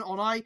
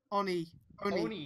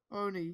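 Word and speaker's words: 鬼: Should we let him become an Onai? Nah, scrap his suit so excuse we me. Can make so we an can make Kyria's form better. Excuse me. What? Onai? Oni.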